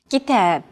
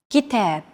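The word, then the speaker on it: كتاب: rhythm of stressed syllables kitab kitab notice that the second syllable is stressed it's pronounced longer and louder while the first and final syllables are shortened kitab if you think about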